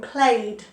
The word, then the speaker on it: played: So some of these ED endings have a D sound and some have a T sound at the end. So played, D, played. Watched, T, watched. Asked, T. Carried, D, and talked, T, T. So some have a D and some have a T ending, but they don't have an ed.